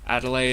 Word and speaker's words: Adelaide: a different language but a delay is how you pronounce it yeah we have we have a city in Australia code Adelaide just take out the D and a delay there